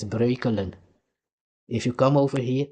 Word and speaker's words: Breukelen: It's not Brooklyn, it's Breukelen because you cannot pronounce it.